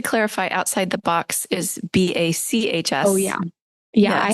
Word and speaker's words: BACHS: And just to clarify, Outside the Box is BACHS. Oh, yeah. Yeah, yes. I have a very bad sense of humor. So yes, meant to be a pun. It's not BOX. It's spelled like Johann Sebastian.